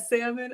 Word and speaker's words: salmon: Geneva says, I don't pronounce the L, but that's how it should be.